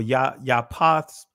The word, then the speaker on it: Japheth: Now these are the generations of the sons of Noah: Shem, Cham, Japheth, or Yapath, and the Israeli is Japheth, but I'm pronouncing it from the ancient Hebrew pronunciation.